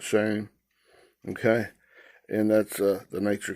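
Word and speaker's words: Shem: Okay, S-H-E-M, they pronounce it shame.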